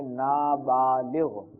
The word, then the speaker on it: نابالغ: یہ لفظ اصل میں ہے نابالغ.